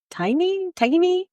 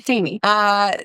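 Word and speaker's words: Tainy: It's Un Dia by J Balvin, Dua Lipa, Bad Bunny, and Tiny? Sorry. Tiny, my bad. I said it wrong. Tiny.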